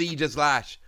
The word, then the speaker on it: Aegislash: a new eega slash a Pokemon which is very commonly mispronounced one of the ones which I don't mispronounce although I know it sounds a little bit weird but it is either slash I checked yay so before we